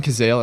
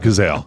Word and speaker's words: Cazale: that was set up I saw uh John Cazale that's how you say his name yeah um that's how I say it is John Cazale yeah yeah so he wasn't supposed to like